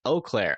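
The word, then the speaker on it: Eau Claire: that by per chance eclair is pronounced o Clair oh okay thank you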